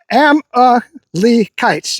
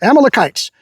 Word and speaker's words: Amalekites: Amalekites, that's how you pronounce it, Amalekites, for ambushing Israel.